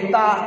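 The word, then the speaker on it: تاء: উপরে দুই নুক্তা হলে তা। জীবের আগা মানে জীবের ডগা, আর উপরে দুই দাঁতের গোড়া সামনে, উপরে সামনের দুই দাঁতের গোড়া, এই জীবটা ওই গোড়ায় লাগাতে হবে, তবেই যে তা উচ্চারণ হবে।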